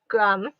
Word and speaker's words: Graham: just so it's g-r-a-n so the h is silent because english has weird language like that oh this is the